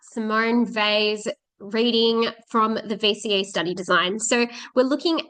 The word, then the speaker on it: Weil: Um and we pronounce her name V as opposed to wheel or whale.